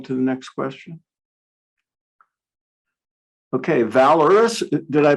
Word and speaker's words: Valoris: Okay, Valorous, did I pronounce it right? Valoris? Yeah, Valoris, yes, correct.